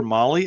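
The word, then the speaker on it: Mahle: For our podcast listeners, Molly is spelled M-HLE.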